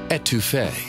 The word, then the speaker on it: étouffée: And just so you know, it's pronounced étouffée.